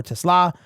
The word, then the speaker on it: TeSlaa: Now, I've heard a bunch of variations of his name, but it is TeSlaa.